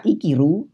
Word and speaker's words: 生きる: dari kata ikiru dulu kanji ini akan dibaca ikiru bila dia bersebelahan dengan huruf Hiragana Ki dan ruh Hei jadi bacanya ikiru kata iki Rooney termasuk